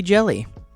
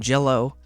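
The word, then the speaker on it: Jellÿ: green jello right here which you might think to yourself oh that's a y so that must be jelly uh it is not it is green jello they pronounce it that way you see these two little dots on the top of the y it that's apparently makes you pronounce it jello so green jello i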